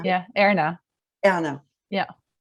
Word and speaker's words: Erna: Erna.